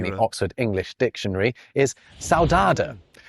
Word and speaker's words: saudade: I've just said it in a terribly British way, but it's a Portuguese word pronounced like this in Portugal. Oh, let's see. Let's see. saudade And saudade this in Brazil.